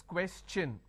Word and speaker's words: question: When I have the word question, the TION becomes ch n. So it becomes question.